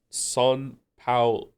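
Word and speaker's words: São Paulo: It's pronounced son pa pao low. Son pao.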